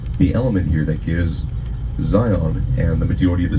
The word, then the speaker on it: Zion: that are close to Zion don't use the A sound in the pronunciation of Zion. They don't. They call it Zion, like Zi or um just Zion.